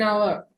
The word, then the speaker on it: hour: I need an hour. ஏனிக்கிட்ட n வருது. இந்த h வந்து ஓக்கு ப்ரொனவுன்ஸ் ஆகுது. ஓகே, இங்க HOUR இருந்ததுக்கு ஃபர்ஸ்ட் லெட்டர் வந்து கான்சனண்டா இருந்ததுக்கு வந்து இதை நாங்க ஹவர்னு வாசிக்க கூடாது, H சைலண்ட் ஆக்கணும்.